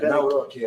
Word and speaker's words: Nawrocki: Yeah, Nawrocki.